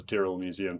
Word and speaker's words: Tyrrell Museum: and it's called the Tyrrell Museum, Tyrell. I think might be wrong with the number of R's, but go with that. And it apparently rhymes with squirrel, and not Tyrell or Tyrell or anything like that.